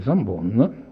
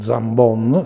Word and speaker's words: Zambon: in Toscana e invece Zambon, con la O chiusa, che io, essendo dell'Italia centrale, devo stare attento a non pronunciare troppo Zambon, se no voi mi